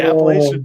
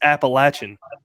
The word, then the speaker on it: Appalachian: carolina one year and i said appalachian trail the person looked at me they're like that's not how you say it i was like what they said it's appalachian yeah really yeah yeah okay